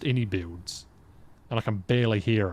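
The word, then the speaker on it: iniBuilds: Oh, so it is pronounced inbuilds and I can barely hear it.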